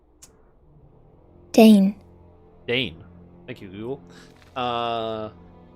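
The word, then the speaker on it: Dáin: got to I don't know how that one's pronounced Dane Dane thank you Google uh Dane to S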